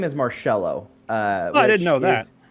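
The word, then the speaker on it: Marchello: my last name is marcelo uh i didn't know this which you know always bugged me because i didn't know like uh it's m-a-r-c-h-e-l-l-o but the c-h is pronounced like an s-h and that like that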